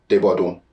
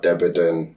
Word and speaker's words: Debodun: I've had, the proper pronunciation is Debodun. That's the Nigerian pronunciation. Yoruba. But then you have Debodun.